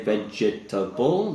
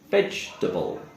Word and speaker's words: vegetable: the next word here we don't say vegetable the e sound the second s sound is silent so we would say vegetable vegetable another silent syllable